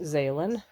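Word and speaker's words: Xaelan: I had AI help me pick a name and it's pronounced Zalen.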